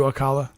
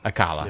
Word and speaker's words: Alcala: early He-Man on the That's what I was thinking too, Akala. friggin' mini comics. Alcala. Yeah. You can just say I was right. No. So I could. Well, technically, it's pronounced alkali.